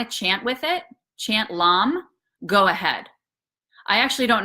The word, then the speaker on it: lam: it's red color, and the mantra we recite for this chakra is lam, l a m, but pronounced l u m.